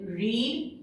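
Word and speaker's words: read: अब पढ़ना की तीनों फॉर्म क्या होती है, रीड, तीनों सेम होती है पर इनका प्रोनाउंसिएशन होता है रीड, रेड।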